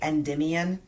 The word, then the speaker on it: Endymion: And I'm so proud of myself that I got to pronounce that correctly, Endymion Concentrate, that Eau de Parfum, because it's kind of a tongue twister.